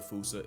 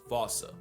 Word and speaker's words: fossa: Anyone who had a childhood like mine would pronounce it the same way I've been doing. But if you follow the Attenborough rule, Sir David would have had you saying Fossa.